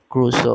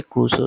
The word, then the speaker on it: Crusoe: ওর নাম হচ্ছে Robinson ক্রুসো, হ্যাঁ। এটা উচ্চারণটা হবে ক্রুসো, CRUSOE, ক্রুসো, Robinson ক্রুসো।